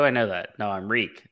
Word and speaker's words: Reek: be reborn as reek reek it rhymes with shriek dude that's some great